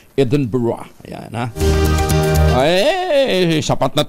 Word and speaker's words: Edinburgh: edb sa Scotland ah aan daw ang pronunciation di Edmund burg ang pronunciation niyan Edinburgh Ayan ha ay sapat